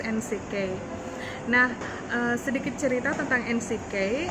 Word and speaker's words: NCK: UKM yang saya miliki namanya NCK, singkatan dari Nitas Collection Kupang, NCK, tapi bacanya pakai pelafalan bahasa Inggris NCK.